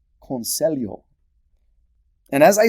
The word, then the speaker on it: conselho: For example, I don't think I ever really learned how to pronounce the Portuguese LH sound correctly. Like in the Portuguese word for advice. It's conselho.